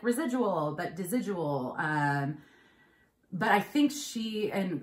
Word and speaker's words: Desigual: of their stores and asked them to pronounce it correctly. And there were all variations of, because I think it's one of those brands that, anyways. So I think she said it was Desigual. But I hear all variations.